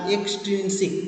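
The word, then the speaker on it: extrinsic: স্যার ইন্টারসনিক আর না, এক্সটারসনিক। ইনট্রিনসিক আর এক্সট্রিনসিক। প্রোনাউন্সিংকে এখন থেকে ঠিক করো। ইন, দেখো INTRIN, ইনট্রিনসিক অ্যান্ড এক্সট্রিনসিক।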